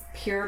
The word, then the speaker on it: Pyr: They I are, think it's pronounced Pure Bliss Homestead, but it's PYR. because I went and looked at the page, they are Pyrenees, the dogs.